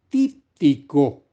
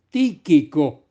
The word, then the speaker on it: Tíquico: Dice que no solo Artemas o a Tíquico, mejor pronunciado, Tíquico.